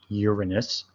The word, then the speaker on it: Uranus: Neptune and Uranus are called, and yes, it's pronounced Uranus.